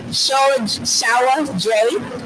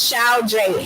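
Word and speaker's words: Sao Dre: I'm going to say his name wrong. Shawa Dre, who I kind of have a crush on. He has a great smile. Who, Drake? No, his name is Shao Dre, SAO_DRE.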